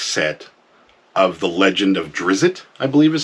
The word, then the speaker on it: Drizzt: Salvatore box set of The Legend of Drizzt, I believe is how you pronounce that.